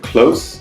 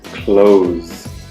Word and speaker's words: close: The adjective close is s. And the verb is close. Z.